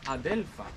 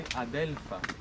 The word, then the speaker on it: adelfa: So in Spanish we say adelfa, or we don't say oleander, we say adelfa, which means in Arabic the very bitter one. Yeah. En español la llamamos adelfa, que significa la que es muy amarga.